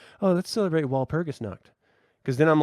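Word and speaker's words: Walpurgisnacht: are you saying what well it's it's spelled with a W yeah but it's German you don't you don't walk around with your English dialect saying foreign languages do you I mean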